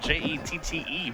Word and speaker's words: Jette: Jet spelled J-E-T-T-E, by the way. Jette. That's the French pronunciation, right.